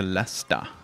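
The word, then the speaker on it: Leicester: going over to another town from going into lester which is spelled differently it's spelled l like it's pronounced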